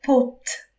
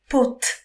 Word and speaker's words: pote: Attention, prononcez pote, pote, avec le T à la fin, parce que le mot pot, c'est une autre chose.